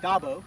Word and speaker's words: Dabo: Dabo, am I saying it right?